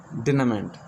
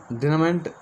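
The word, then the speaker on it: denouement: Our next vocab is डिनामेंट। डिनामेंट इसको डिनामेंट पढ़ेंगे, डिनामेंट। Okay, इसके प्रोनाउंसिएशन ध्यान रखना, डिनामेंट।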